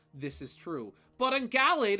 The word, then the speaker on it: Gallade: I know the correct way to pronounce it is Gallade. I've just always said it Gallade, and I will likely always say it Gallade.